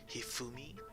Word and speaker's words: Hifumi: Hifumi, like with the Japanese accent. That's awesome. The Japanese pronunciation.